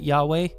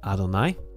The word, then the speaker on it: Adonai: you have Yahweh again we don't pronounce it Yahweh when we read the Hebrew scripture we pronounce it Adonai pronounced as Adonai and